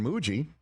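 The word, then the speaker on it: Mougey: And sure enough, the new general manager, Darren Muji, rhymes with Bougie.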